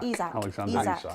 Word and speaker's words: Isak: So it's Pope in net, Trippier, Lascelles, Scar, Livramento, Bruno Guimaraes, Miley, Joe Linton, Almiron, Gordon, how do you pronounce it? Isak.